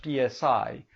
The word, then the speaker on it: PSI: platform for situated intelligence which we sometimes abbreviate as back SL PSI and pronounce like the Greek letter s um is an